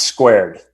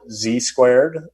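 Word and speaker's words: Zqared: don't put that back on me it's it's pronounced squared so it's zq a r e d although we often hear from oh people call it Z squared or what I was gonna say squared I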